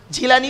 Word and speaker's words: জিলানী: কাদির জিলানী রহমাতুল্লাহ আলাইহের জিলানী বা গিলানী দুটোই বলতে পারেন। তার মৃত্যু দিবস।